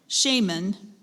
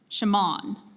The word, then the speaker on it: shaman: say the work please shaman that sounds right sh'mon shaman shaman what I have I have a couple alternate pronunciations I have shaman Shaymin sh'mon shaman s H a a